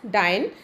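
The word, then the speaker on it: dyin': actually not rhyming but the poet has taken poetic liberty by changing the spelling of word डाइंग इन such a way that we pronounce it एज़ डाइन ही has done it to rhyme it with line so poetic liberty has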